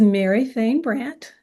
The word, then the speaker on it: Mary Fain Brandt: today I have a guest and this is Mary Fain Brandt Mary did I pronounce that correctly you did good job thank